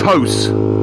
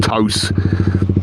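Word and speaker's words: TOCE: It's spelled T-O-C-E. I think it's toast, they pronounce it. Sounds like toast without the t.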